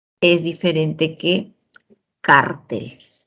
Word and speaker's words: cártel: El acento en cartel está en la última sílaba, mientras que en cártel en la penúltima sílaba.